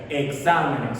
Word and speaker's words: exámenes: Exámenes, bien, exámenes, fíjate que es una palabra, tiene 3 sílabas y está acentuada, la sílaba tónica está en exa y se coloca, pues es una palabra sobre esdrújula, pues que la mayor fuerza de la voz está en la antepenúltima sílaba. Bien.